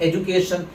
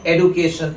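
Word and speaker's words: education: Consonant का जो sound है वो बदल जा रहा है, तो हमारा प्रोनाउंसिएशन इस वर्ड का है एजुकेशन, जबकि अमेरिकन प्रोनाउंसिएशन है एडुकेशन।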